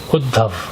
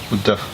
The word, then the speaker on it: Uddhav: How would you pronounce the name? Uddhav. Uddhav.